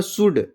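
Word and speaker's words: should: इसको पढ़ूंगा सुड। इसको पढ़ूंगा कुड। जो यल है क्या है? साइलेंट।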